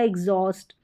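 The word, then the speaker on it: exhaust: जैसे कि मैंने बोला एग्जॉस्ट, एग्जॉस्ट और एग्जॉस्ट, तो ई भी बोला है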